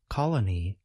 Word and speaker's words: colony: few words about pronunciation even though we spell colony with two o's we pronounce each o a bit differently listen again to the singular form Colony note that the first letter O suggests this vowel sound a note that the second letter O the one that appears